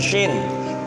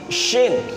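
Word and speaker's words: شين: Sin berarti bibir yang bawah ditarik, sin gigi yang belakang, gigi yang bawah kelihatan. Tetapi kalau yang shinnya ini sama-sama gigi atas dan bawah sama-sama kelihatan. Sin, shin, sin, shin, sin, shin, begitu.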